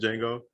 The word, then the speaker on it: Django: I did Django Fett, but Django was the D is silent Django.